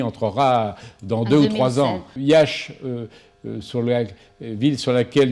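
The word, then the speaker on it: Iași: aujourd'hui en roumanie ayyash il s'écrit et à s y met prononcer yach pourquoi iasi et bien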